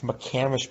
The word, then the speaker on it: McCamish: this chain this like changed my life it's mccamish pavilion what the heck i mean something you've